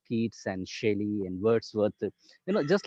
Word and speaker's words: Shelley: book on Shelley, and I would always pronounce it as Shally, and my father would always correct me with a smile that it is not Shally, it is Shelley.